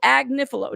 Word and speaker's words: Agnifilo: I'm gonna say it right all right so AG niif now I might mess it up again just